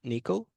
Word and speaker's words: NCCL: Third high-level communication technology from NVIDIA is NCCL, pronounced Nickel, NVIDIA Collective Communication Library.